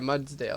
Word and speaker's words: Mudsdale: Yeah, Mudsdale, that's how you say it.